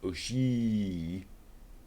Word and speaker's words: Oshii: Never quite sure how to pronounce that. Oshii.